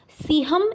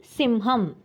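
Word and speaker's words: सिंहम्: Students, in the dialogue of Vanaraha, in the second line, Siham is printed. It should be Simham.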